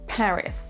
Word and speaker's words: Paris: Paris, Paris. Peut-être vous avez vu ma main qui faisait un petit mouvement pour la première syllabe. Paris, c'est la première syllabe qui est accentuée.